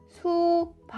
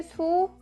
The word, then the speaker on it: 수박: On the other hand, in Kroean, only blocking the air is allowed. If you release the air, like 채ㅋ it sounds very weird. Let me show you one more example. If you pronounce it like '수바ㄱ', or, If you pronounce